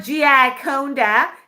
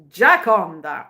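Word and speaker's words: Gioconda: So we need to have some training where he can show you guys it's not Giaconda, it's Giaconda, right, Mr.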